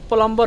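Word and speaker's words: plumber: लेकिन व साइलेंट है जैसे प्लंबर हो गया तो प्लंबर में इसमें भी सही जाता है प्लंबर में जो है बीट साइलेंट है प्लंबर नहीं है प्लंबर होता है इस तरह का बहुत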